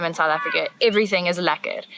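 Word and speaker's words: lekker: must learn how to say this word LA laer because it is used all the time in South Africa everything is lacquer not just the course that we were just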